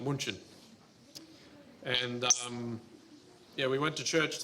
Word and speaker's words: München: But we were in Germany, I think second week there or something, and we went to church in Munich, which is in German it's pronounced München.